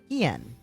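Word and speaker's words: Hien: I want to read it how it's spelled. Kind of like Keyman, but not. Hian.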